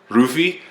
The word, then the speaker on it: Luffy: it's spelled Lu but sometimes the Lu in Japanese or the L makes the the r sound so it's like rufy and then Tony Tony